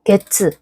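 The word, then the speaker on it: 月: 그래서 게츠, 월, 치읓 발음이죠.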